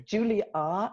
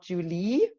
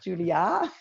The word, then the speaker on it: Julia: Julia, not Julie. It's Julia.